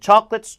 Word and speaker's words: chocolate: 초콜릿이 아니라 chocolate. 처의 강세니까 요 CO 발음이 K 발음이 끄가 돼요. 그 다음에 강세가 없으니까 으로 약고 그러니까 코가 아니라 초끄예요. 초끌렛. 초도 아니고 처예요. 초끌렛. 초콜릿 못 알아들어요. 진짜 못 알아들어요. 초콜릿 더 못 알아들어요. chocolate.